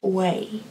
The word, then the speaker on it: Wei: I finally figured out how you pronounce oh you a I it's way or at least that's what I've been told in the comments so this is a